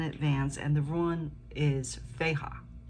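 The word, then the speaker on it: Fehu: I started out pulling a rune, and I'm learning the rune, so I pulled it in advance, and the rune is Feha. It's spelled F-A-H-U, and it represents wealth.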